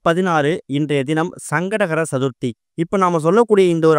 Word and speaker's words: சங்கடஹர சதுர்த்தி: முதல்ல இந்த சங்கடகர சதுர்த்தி அப்படிங்கிறத நம்ம சரியா உச்சரிக்கணும். நிறைய பேர் மொட்டையா சங்கட சதுர்த்தின்னு சொல்றாங்க. அப்படி சொல்லும் போது உங்களுக்கு சங்கடங்கள் தான் வந்து சேரும். முழுமையா சங்கடகர சதுர்த்தி அப்படிங்கிறத முழுமையா உச்சரிச்சாலே நம்மளோட பாதி சங்கடங்கள் விலகி ஓடிடும்.